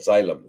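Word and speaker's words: xylem: water comes up okay it's called xylm zy It's A Hard word to pronounce x y l m xyl and then and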